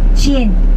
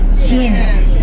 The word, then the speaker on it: Qin: Qin. Pronounce it. Qin.